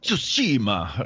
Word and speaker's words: Tsushima: of gaming recently, particularly, I'm probably going to pronounce it wrong, Ghost of Tsushima or something. Tsushima, that's a Japanese, yeah.